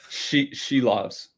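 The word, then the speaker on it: Silovs: Top of the board, we have Silov. How do you pronounce it? Shilovs. Shilovs.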